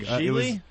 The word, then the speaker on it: Gigli: It's called Geely. How do you spell that?